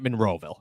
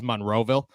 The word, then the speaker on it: Monroeville: But it's like Monroeville. It's not Monroeville. It's Monroeville.